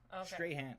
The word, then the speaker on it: Strahan: and uh ryan seacrest am i saying that last name right strahan all right and i've seen the guy a million times and i never quite hear his last name i wasn't a big sports fan he's a sports guy um since 2001 what talk show personality straight hand oh okay it is separate all